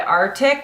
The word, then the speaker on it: RTIC: grab this huge gallon jug this is by artic it's rtic that's how it's spelled I found this after buying a ton